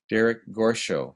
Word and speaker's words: Derek Gorshow: And joining us today are Alameda COE Representative Derek Gorshow. Did I pronounce that correct? Program Director. Yes, you did. You pronounced it very well, and that puts you in the 95th percentile of people pronouncing my name correctly. So.